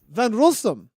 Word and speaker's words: Gina van Rossum: so um van gaalsen it actually is van rossum van rossum is that right closer yeah closer closer close enough got it thanks so